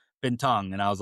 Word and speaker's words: Bintang: it's actually when I wrote the book, I said Bintang like you do. Apparently, the correct pronounce is Bintang.